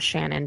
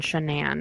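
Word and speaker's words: Shanann: Denver suburb um and shenan not Shannon shanan is how you pronounce her name she was um she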